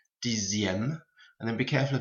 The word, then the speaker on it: dixième: Pronunciation, the X here and the X here becomes a Z sound, so sixième, dixième, and then be careful of 9, it goes to neuvième and not neuvième.